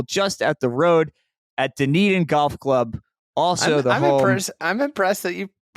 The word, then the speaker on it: Dunedin: public golf available just at the road at Dunedin Golf Club. Also I'm impressed that you pronounced that correctly.